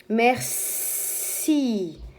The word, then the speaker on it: Merci: Merci. Petit piège. Là, le C se prononce S comme le serpent parce qu'il y a un I après.